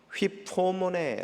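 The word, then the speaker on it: ὑπομονή: 2 뻔 역 된 헬라 원어에 단어는 휩 토모 네 라고 발음합니다 휘 포머 4라는 2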